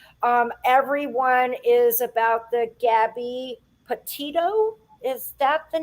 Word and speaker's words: Petito: I also wanted to share, everyone is about the Gabby Petito.